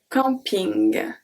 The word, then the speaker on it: camping: Un camping. Camping. So here the difference that we make is that the am we are going to pronounce it en, but the end is still ing.